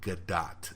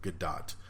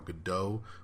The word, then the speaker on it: Gadot: came from the 8th movie it is officially get dot it is basically pronounced GA do TT gadot so I'm sorry gal I love you please don't be mad at me for saying gal gadot for all of these years it is gadot